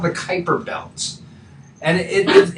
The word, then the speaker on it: Kuiper: this thing called the kuiper belt and it it rhymes with viper but it's you know spelled kuiper um and that was